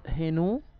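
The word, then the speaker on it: ḥnw: هنو بتتكتب كده، الكتاب الهيروغليفي، النطق هنو، المعنى ابتهاج ابتهاج، وطبعا هتقارن بكلمة هناء في اللغة العربية.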